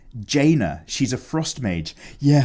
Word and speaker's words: Jaina: love your artwork but for your information it's pronounced Jaina she's a frost mage yeah Thank You Billy not China China Jaina Proudmoore Oh also I got some